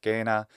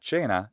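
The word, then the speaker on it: cena: example the observation that the letter c in latin must always have just one basic pronunciation in the classical period which is equivalent to the k sound just a question so gena for dinner not jaina as it is in the italian ecclesiastical pronunciation of latin erasmus was right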